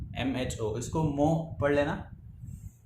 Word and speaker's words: mho: इसको मो पढ़ लेना या जैसे तुम प्रोनाउंस कर सको।